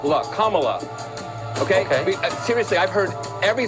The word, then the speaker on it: Kamala: um hosts on Fox her name is pronounced comma like the punctuation mark look Kamala okay seriously I've heard every sort of so that's how it is it's Kamala not Kamala Tucker but I suppose